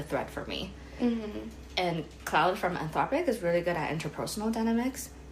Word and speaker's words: Claude: Claude? Claude. Yeah, that's Claude, yeah.